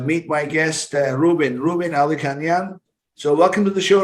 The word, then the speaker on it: Alikhanyan: further ado uh meet my guest ruben rubin aldi canyon so welcome to the show reuben nice to